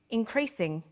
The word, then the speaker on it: increasing: come across longer words you have to learn which syllable to stress for example we say intelligent increasing and markedly notice that when you stress one syllable the vowels in the other syllables are shortened sometimes these short syllables